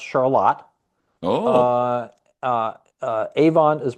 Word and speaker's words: Charlotte: because there's a Charlotte is pronounced Charlotte.